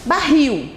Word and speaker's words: barril: Então, barril, ó, qual é a sílaba tônica de barril? Rio, né? Barril, olha aí, ó. Então, aqui é uma oxítona.